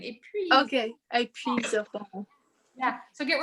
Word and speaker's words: épuiseront: C'est puisseront. Can you spell it for me? It's EPUISERONT. Oh, épuiseront. So get rid of the poo in there. Épuiseront. Épuiseront. Yeah, that's it.